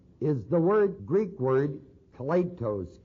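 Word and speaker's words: κλητός: This word here in Romans 1:1, the word called, is the Greek word kletos, K-L-E-T-O-S, or kletos.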